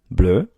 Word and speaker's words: bleu: Then you get to bleu, and they're going to sound the same, but spelled different, meaning that it ends in a vowel sound. So we're just adding an e, bleu, bleu in plural, we're adding an s, and adding an s.